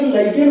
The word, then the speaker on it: lichen: में लीचेन कहते हैं, लीचेन, इंग्लिश वर्ड इसका स्पेलिंग है LICHEN। तो ये लाइकेन पौधा से लिया गया है, जिसका प्राकृतिक कलर